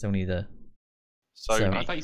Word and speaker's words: Sony: what I've heard, they actually have to pay Sony to upload a new update every game. Yeah, it's only PS4. Like it's only the. Sony. I thought you said Zony.